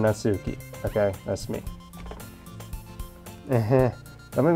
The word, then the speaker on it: Natsuki: Made Me cupcakes and everything I know it's pronounced natski I like saying natuki okay that's me that make me promises you